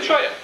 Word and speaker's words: cholla: Randy Coverly from the Choya Choppers. Anybody know what a Choya is? see this name, Cholla choppers. What's a cholla? It's pronounced a cholla.